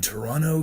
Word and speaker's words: Toronto: Bill Hader says in Toronto Canada that's hilarious because that second T is silent but everyone's a person